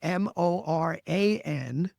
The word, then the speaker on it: Moran: And by the way, Moran is Moran. Yes, correct. So I had to make